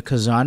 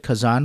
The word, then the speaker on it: Kazan: Is it Kazan Room? Kazan Room.